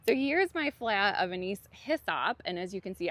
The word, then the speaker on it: Anise Hyssop: was my Anise Hyssop, which I was pronouncing wrong this whole time. Thank you so much to whoever called me out in my last video. It's Anise Hyssop, not Anise Hyssop, so I appreciate it.